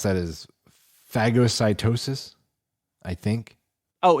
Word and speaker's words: phagocytosis: Oh, wrong emphasis on the A. I don't actually know that. I could look up a pronunciation. Mm-hmm. I was not trying to make it funny. I just thought that's how you pronounce it. No, I know you're not. I wouldn't ever think that you were. It is So long A, phago, like the pop?